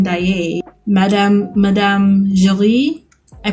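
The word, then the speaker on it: Daaé: I pronounced Christine Day, but it's Christine Daye.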